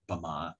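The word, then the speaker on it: ဗမာ: you would write down bama in the international phonetic alphabet um and the stress you'll hear is on the second syllable and when in english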